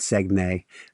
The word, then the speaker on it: Saguenay: They call it Saguenay. Still work on my French pronunciation of things.